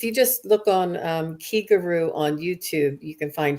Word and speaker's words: Kigaru: the same syllable as the key in Reiki it means spirit and uh